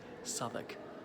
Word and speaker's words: Southwark: So Southwark, it's spelled like Southwark, but always pronounced Southwark.